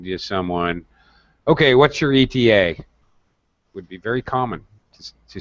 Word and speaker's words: ETA: someone okay what's your eta would be very common to speak it to say that we wouldn't pronounce it though we wouldn't say what's your ada we actually have to say the words acronyms we actually pronounce